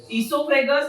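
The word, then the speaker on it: oesophagus: ओ से चालू होगा बेटा, ठीक है। ओ साइलेंट है यहाँ पे।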